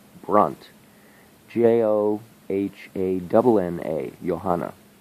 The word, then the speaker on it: Johanna: Joh a double na johanna I say yo but it's a J it's you know the German pronunciation I think you would